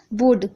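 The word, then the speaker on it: would: से लिखा राहत है वुड वुड में देखिए आप बहुत से लोग गलतियां करते हैं पर ये भूत होता है क्योंकि ल साइलेंट राहत है जैसे की मैंने बताया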